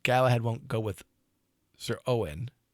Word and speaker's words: Uwain: That's Uwain, if you wish to read it phonetically, but it would be pronounced today Owen. Like Owen Morgan, which is written Eoin, right? Owen. So that's why we pronounce it that way.